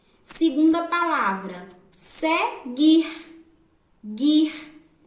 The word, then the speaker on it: seguir: Segunda palavra, seguir. Guir. Não sai o som do U.